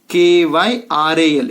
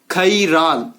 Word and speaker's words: chiral: Hing pronounce ಮಾಡ್ತೀರಾ ಅದನ್ನ? Kyral. It is not a spelling, I am just giving for pronunciation. Chiral.